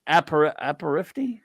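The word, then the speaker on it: apéritif: Now that word I'm having aperitif.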